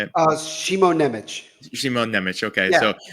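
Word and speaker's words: Šimon Nemec: And I always get this guy's name wrong. Simone Nemec, is that how you say it? Shimo Nemec.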